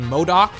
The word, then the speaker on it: MODOK: I think the CEO of aim apparently being MODOK that's how you say his name here's like